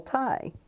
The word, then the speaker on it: Tighe: you don't pronounce right it sounds just like neck tie so like a neck